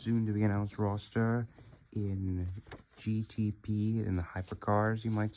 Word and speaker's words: Eng: the 24 consists of Ing, like ENG, and that's how you pronounce it.